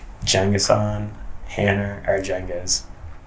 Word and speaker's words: Cengizhan Ercengiz: Cengizhan Ercengiz. And I'm named after Genghis Khan, but it's the Turkish pronunciation of it.